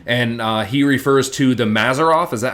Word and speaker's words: Mazzaroth: speaking to Joe and he refers to the mazzaroth is that how you pronounce it yes and that's supposedly the Hebrew